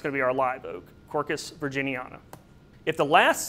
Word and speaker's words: Quercus: All right, so this example here is Quercus virginiana, and again we have a two syllable word, so Quercus.